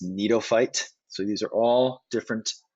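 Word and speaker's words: Gnetophyte: just subdivisions of gymnosperms cycads and this one's pronounced neatophyte so these are all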